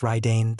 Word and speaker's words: Radiant: This was radiant, pronounced Ryane, the lightning warlord.